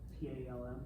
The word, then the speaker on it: palm: This is a hard word to sound out because it only has one syllable. P A L M because it only has one vowel. That's palm.